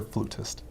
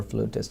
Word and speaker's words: flutist: they referred to well sometimes you'll hear flautist or flutist it's personal preference I prefer flutist oh you prefer flutist I I too have been pronouncing it that way until somebody told me that it's flautist it was nonetheless the